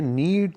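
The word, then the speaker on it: knead: इसके बाद next sentence है नेक्स्ट सेंटेंस हमारे पास है आटा गूंद दो, ऐसे इंग्लिश में कहेंगे नीड the floor. नीड the floor के साइलेंट है नीड द फ्लोर।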